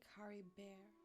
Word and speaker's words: Caribert: see with new Clarity carry Bear if nothing else at least I still have Cory bear okay so they say Curry bear I because I immediately pronounce it French Curry bear anyways what